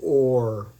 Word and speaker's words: Ur: So, this is or or I I always mispronounce this, but it's pronounced ore.